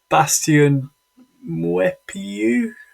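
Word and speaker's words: Bastien Meupiyou: Would Bastien Mwepiu, have I said that correctly? Expertly pronounced.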